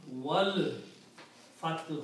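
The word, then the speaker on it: وَالْفَتْحُ: So when you read wow, you do not pronounce this alif in between. Combine wow with the lam. Wal fathu.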